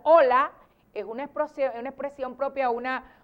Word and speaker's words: hola: hola claro claro hay y se pronuncia igual porque para nosotros la h es muda hola es una expresión propia